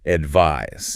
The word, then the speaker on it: advise: Another sound pair that gets confusing, S and Z, like advice versus advise.